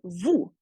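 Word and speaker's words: vous: the s in French the Vu is spelled v o u s but in the CRS where uh they keep the Vu they would just drop the S so how you hear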